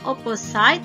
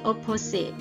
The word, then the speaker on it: opposite: icdx cek opposite ya Perhatikan cara mengucapkan kata opposed opposite itu artinya kebalikan ya jadi bacanya bukan opposite tapi oppose the Hai Icha curly or